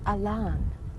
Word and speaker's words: Allan: one who came down his name was spelled Allan pronounced Elan he got a LAN